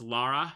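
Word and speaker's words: Lara: All I really know about Tomb Raider is like um you got Laura Laura Croft. That's how you say it, right? It's Laura, not Laura like everyone says it.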